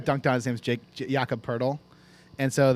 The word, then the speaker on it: Pirtle: His name's Jakob Pirtle, and so they made a game called Pirtle because it rhymes with Wordle, and it's a Wordle for NBA players.